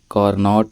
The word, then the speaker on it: Carnot: topic है वह है कॉरनोट इंजन इसकी जो दुरुस्त प्रोनंसिएशन होती है वह टी को साइलेंट करके पढ़ा जाता है इट्स कार्नो इंजन ओके देखिए कार्नो इंजन के